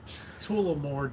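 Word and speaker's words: Tullamore: Tulamore dude.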